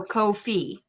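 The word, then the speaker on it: Ko-fi: them all so it's it's no fee so coof fee it s it rhymes with no fee that's what they said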